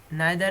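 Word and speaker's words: neither: नाइदर ऐसे ही है, इसको नीदर भी कहते हैं, आइदर ऐसे ही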